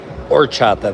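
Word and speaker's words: horchata: The white orchata. Yeah. Orchatchata. The h is silent.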